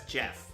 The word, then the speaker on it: Geoff: You know that's Jeff, right? I know. Okay. I know. It's just checking. I know it's pronounced Jeff.